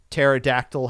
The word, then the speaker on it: pterodactyl: silent p in it kind of like pterodactyl has a p in it uh Michelle Pfeiffer has a p in her last name so I'm assuming this